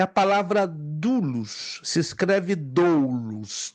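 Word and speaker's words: δοῦλος: mesmas letras do nosso alfabeto latim mas a pronúncia é dulus dulos então a palavra grega dulus é a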